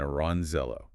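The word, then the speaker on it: Orangejello: Yes, pronounced shatid and aranzello.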